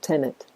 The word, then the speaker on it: Tenet: So you read it forward or backwards, it's pronounced the same way, Tenet.